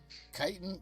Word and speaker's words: chitin: Chitin rhymes with Titan.